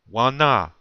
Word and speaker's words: wana: And you say it like this. Listen to how I say it very closely and where I have the accent or the emphasis.